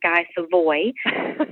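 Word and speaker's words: Guy Savoy: chef named Gizavo, but most people who don't speak French would recognize his name pronounces Guy Seavoi and also Charlie Troder there in Chicago.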